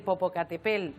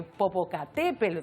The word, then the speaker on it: Popocatépetl: del Popocatépetl de Popocatépetl y te digo estas dos formas de decirlo porque hasta en Ecuador han hecho una encuesta de Cómo se dice el nombre del volcán es como un trabalenguas Bueno lo cierto Es que todos estamos acostumbrados a decir Popocatépetl y se dice Popocatépetl con la el acento o también se puede